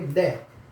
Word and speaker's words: Д: पांचवा जो हमारा हो जाएगा, पांचवा जो होगा दे को कैसे लिखेंगे, तो इस तरह से बनाकर इसके ऊपर इसको लिखेंगे दे, जिसको इंग्लिश में आप डी से डिनोट कर सकते हैं, इसको डी कहते हैं, ठीक है, दे, इसको डी कहते हैं दे।